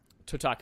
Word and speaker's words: Totaku: Totaku. It's like Kotaku, the website, but with a T.